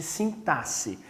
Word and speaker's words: sintaxe: a gente chama de sintaxe a gente escreve com x mas pronuncia com um som de s ok é a sintaxe por essa área da